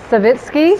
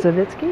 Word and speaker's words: Savitsky: I'm Brigid Air, your host, and I'm here with Julie Savitsky. Savitsky, yes.